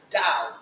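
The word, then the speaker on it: Dau: It is pronounced dao. Just like wow with a da.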